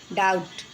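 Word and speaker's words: doubt: बच्चों ये B silent है। देखिए डम डाउट जबकि बी है लेकिन बोलना नहीं है।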